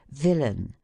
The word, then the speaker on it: villain: ending in AI n the accent is placed on the former syllable as villain which is pronounced as the natives of Whitechapel pronounce willing those die syllables the